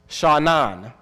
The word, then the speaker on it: shanan: It's pronounced shanan, which means to pierce, which means sharp, which means to cut deeply, to penetrate, to prick.